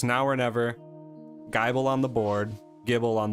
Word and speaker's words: Gible: I think it's just Gibble. I think that's how most people pronounce it. I say Gibble. Yeah. But like, if they really wanted people to say Gibble, they should have given it another B. Yeah. Like Bible. Gibble. It's like the same pronunciation, same spelling-ish.